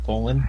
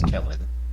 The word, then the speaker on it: Kullen: Is his name actually Colin? It is spelled Kullen. Kellen. Kellen. It's Kellen. Okay.